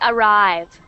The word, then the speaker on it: arrive: for us okay AR were this is actually arrive okay arrive were good good and let's move